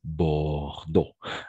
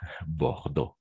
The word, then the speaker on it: Bordeaux: Bordeaux. Bordeaux. Exact. Bordeaux. N'oublie pas la combinaison des voyelles E, A, U, O. Toujours O, c'est-à-dire Bordeaux.